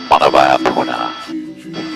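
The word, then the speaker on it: Manawaiopuna: This waterfall that they descend down in front of in Hawaiian, actually pronounced Manawaiapuna. But that is such a disaster of a word to try and pronounce that we refer to Manawaiapuna simply as Jurassic Park Falls.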